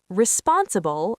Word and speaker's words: responsible: Responsible, stress the second syllable, responsible.